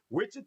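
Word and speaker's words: Wichita: I pronounce it correct. Witchah Kansas.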